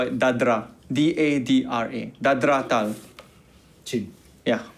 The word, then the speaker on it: dadra: In tabla, we call it dadra.